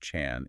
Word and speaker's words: Chan: They have traveled specifically to ask Ji Gong about Zen, pronounced Chan in Chinese, and specifically about Zen philosophy or Zen mechanisms, which is Chan Ji.